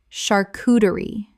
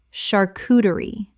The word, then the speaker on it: charcuterie: Common mispronunciation. Shar-coo-der-ee. Correct pronunciation. Shar-coo-ter-ee. The CH makes a SH sound in this French word.